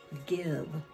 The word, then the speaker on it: give: Here it is, give, g-iv, g-iv. Remember, Mr. V doesn't like to be at the end by himself, but the E is silent, the I is short.